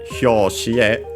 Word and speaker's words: hyoshi: Accent on the last syllable is an exception, so be careful.